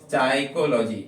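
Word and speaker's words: psyche: जैसे साइकोलॉजी, अच्छा वर्ड है साइकोलॉजी, तो यहाँ पे आपको किसको साइलेंट रखना है, पी को।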